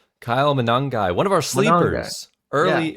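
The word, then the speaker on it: Monangai: down below, but Kyle uh, how do you pronounce his last name? Kyle Manangi, one of our sleepers, early early day sleepers, right?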